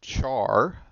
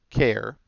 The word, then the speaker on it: char: Now this can be pronounced char. I prefer care, just personal preference. But I do hear it pronounced char a lot because char looks like char. But for me, it's short for character. I always think care. But however you want to pronounce this, up to you.